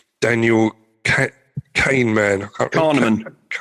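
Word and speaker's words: Kahneman: And and the concept of cognitive bias was introduced by this chap called Daniel Kaneman. I can't Carnean. Is that Carnean? Yeah.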